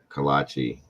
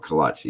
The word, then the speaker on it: kolache: Kolache. Yes. Is that how it's spelled? I never knew that. And that's what it's called. Kolache.